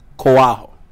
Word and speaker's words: Koaho: is that how you pronounce how do you pronounce quoo really and truly it's it's Koo like my mother calls me o so and